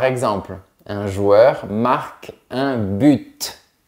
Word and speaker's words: but: un joueur marque un but. Mais on peut dire un but. C'est possible. Tous les mots pourraient être comme ça. Hein. Ce serait plus facile de choisir si on prononce pas la lettre finale.